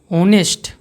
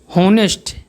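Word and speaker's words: honest: ऑनेस्ट H silent है। ओ उच्चारण आ रहा है।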